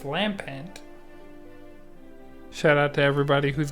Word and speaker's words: Lampent: so this entire time I've been calling this Pokemon Lampert but it's Lampent shout out to everybody